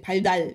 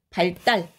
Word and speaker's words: 발달: 발달 이렇게 발음하는 사람 없잖아, 그지? 발달, 바로 리을로 끝나는 한자 뒤에 요 디귿이 된소리로 발음되는 거.